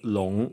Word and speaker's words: 龙: Yeah, I think in recent years, we see a lot of Chinese media using the word 龙, which is the pronunciation of the Chinese dragon, instead of dragon, which is usually seen as evil.